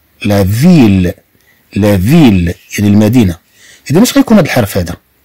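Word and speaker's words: ville: ثم عندنا دوزيل أ، طبعا تنطق ل، لا فيل، لا فيل.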